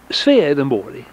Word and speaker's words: Swedenborg: It's pronounced Swedenborg in Swedish.